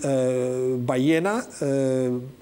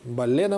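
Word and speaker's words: ballena: По-испански «кит» будет «баена», пишется через два «л». «Балена» можно его произнести, это немножко неправильное произношение, но, по крайней мере,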